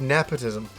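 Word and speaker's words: Napishtim: uh Arc of nepotism nepotism there's a lot of different people pronounce it a lot of different ways I've always pronounced it the Arc of nepotism uh a great game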